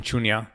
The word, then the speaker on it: Shunya: So moving on from that, you started the Mission Shunya podcast recently. Did I pronounce that right? Yes, Mission Shunya.